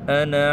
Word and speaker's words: أنا: La première, ici vous voyez cette alif là, cette alif de Anna. En fait, elle ne se prononce pas.